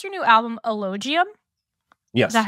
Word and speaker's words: Elogium: I do want to bring up, do you pronounce your new album Elogium?